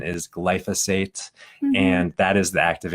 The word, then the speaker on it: glyphosate: The proper pronunciation is glyphosate, and that is the active ingredient of this